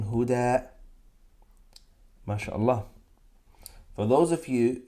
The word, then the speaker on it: هدى: I'm saying huda. I'm pronouncing alif there. That sound is alif. Huda. That's alif.